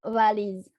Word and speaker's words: valiz: Jadi ngomong V ini agak spesial ya. Antara ngomong V Indonesia, V, dan W.